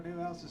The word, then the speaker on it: Newhouse: Tyler Newhouse's tire. I thought I said it wrong, but dang it, that was actually how you're supposed to say it.